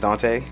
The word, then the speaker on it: Daunte: It's not Dante. It's Daunte.